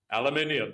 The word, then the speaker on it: aluminium: Aluminium. It has an extra eye in it.